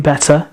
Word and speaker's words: better: So better have a schwa sound at the end, which is ER replacing with a schwa sound. It's one of the most common vowel sounds in British English.